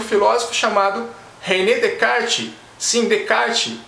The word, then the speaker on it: Descartes: filósofo chamado relé de kart syndicate embora se inscreva descartes a pronúncia correta de kart e um filme que